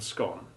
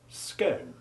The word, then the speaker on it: scone: There are also the nouns respite and scone, which can be pronounced either as you have just heard them, with short I and O respectively, or with long I and O sounds, respite and scone. We have no particular preference for the former, but we